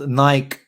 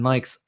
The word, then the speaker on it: Nike: And then they announced Nike. I always say Nike, but I know the proper way to say is Nike.